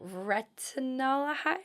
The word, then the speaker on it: retinaldehyde: Because I'm going to butcher the name, but retinaldehyde, how do you say it?